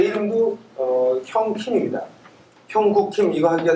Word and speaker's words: 형: 제 그 스펠링이 HYOUNG이기 때문에 읽는데 하이 형 이렇게 읽는 사람들이 많아요. 그럼 제가 꼭 커렉트 해줍니다. Don't please call me 하이 형. Call me 형. repeat 형. 제 생각에 제 성이 임시였으면 얼마나 좋았을까. 형님. 발음을 그렇게 해줘야 정확하게.